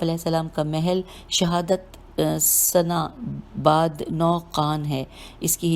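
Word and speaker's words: سناباد نوقان: شہادت پائی۔ آپ علیہ السلام کا محل شہادت سنا بعد 9 قان ہے۔ اس کی ہجے کرتے ہیں سین نون الف بے الف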